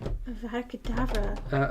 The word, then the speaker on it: Avada Kedavra: Is there a D? There's no B in there.